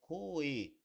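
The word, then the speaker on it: こえ: Então aqui está escrito se eu só ler seria coer eh utilizar de uma pronúncia um pouco mais japonesa seria coe, entendeu?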